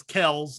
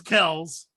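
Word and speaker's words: Kelce: to see a decline in travis kells i guess is what he wants to be called now uh did you see that yes i did okay travis kells he claims that everybody's been mispronouncing it for years but i don't know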